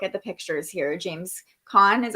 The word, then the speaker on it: Caan: James Caan is how you say his last name.